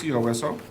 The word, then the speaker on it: COSO: Uh, 7 is a discussion and vote to adopt the town's COSO, is that how you pronounce it? Say it, COSO? COSO policy, COSO.